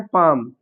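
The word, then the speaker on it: palm: जैसे यहां दिया है पाम।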